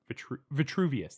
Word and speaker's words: Vitruvius: Vitruvius, that's how they say it.